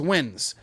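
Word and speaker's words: Nguyen: seven eight of them the whole team is wins you know what i'm saying but they haven't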